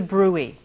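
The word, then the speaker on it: bruit: check for the thrill and listen for the Brew which is spelled BR uit now it's hard for some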